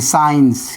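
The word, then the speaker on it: science: एस ई S eight accent S आई इ एन सी साइंस।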